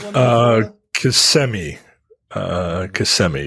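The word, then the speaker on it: Kissimmee: like uh CMI uh CMI is is what it's is how it's pronounced uh is is is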